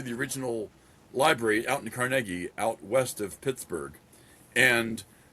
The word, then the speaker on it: Carnegie: So, Andrew Carnegie. Oh yeah. But the town that that they the town that's named after him is called Carnegi with the second syllable.